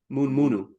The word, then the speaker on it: munu munu: written as munu munu, the word morning, munu munu, M-U-N-U, M-U-N-U. However, it's pronounced mun munu.